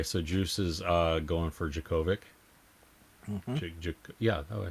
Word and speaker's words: Djokovic: Okay, so Juice is going for Djokovic.